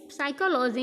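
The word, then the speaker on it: psychology: तो दोस्तों साइकोलॉजी में पी हमेशा साइलेंट रहता है और हम लोग साइकोलॉजी पढ़ते हैं।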